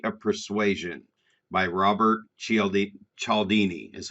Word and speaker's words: Cialdini: influence the psychology of persuasion by robert cieldi chaldini is how you say his name it's really